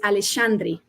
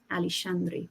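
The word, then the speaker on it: Aleixandri: And because Leah is from just outside Barcelona, so speaks Catalan, the X is actually a shh sound. So how we should be pronouncing it is Alicandri. Alishandri for that one if if we're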